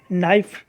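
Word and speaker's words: knife: देख सकते हैं कि जैसे नाइफ होता है इसमें के साइलेंट नाइट बोला जाता है जबकि के लिखा गया है लेकिन उच्चारण नहीं हुआ है साइकोलॉजी में पिच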